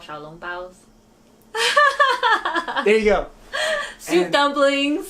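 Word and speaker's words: xiaolongbao: Yeah, they're called xiaolong baos. There you go. Soup dumplings. Soup dumplings. How do you say it? Xiaolong bao.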